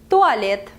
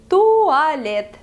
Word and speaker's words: туалет: Toilet in Russian is туалет. Туалет.